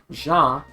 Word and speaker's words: Jean: uh yeah so a lot of people will say his name like team like like jeans kind of like the clothing um but yeah you you it's likely meant to be pronounced like in French because about the French words that he uses so it's probably meant to be ja which I I will